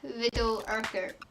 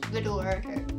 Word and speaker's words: Riddell-Urquhart: So it looks like Riddell-Urquhart, and that's mainly how you say it in a possible way, but it's Riddell-Urquhart. But I think the proper pronunciation of it is Riddell, but I'm not overly sure.